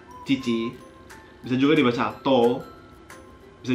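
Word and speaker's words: 父: Cara bacanya chichi.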